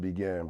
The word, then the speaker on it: Beijing: saying but definitely definitely Beijing it's really pronounced began but you know the hood people call we remixed it yeah we definitely So we out here saying it wrong yeah we definitely